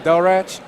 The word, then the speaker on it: Delriach: And I'm Delrach, DELRIACH. It's Hey, pronounced.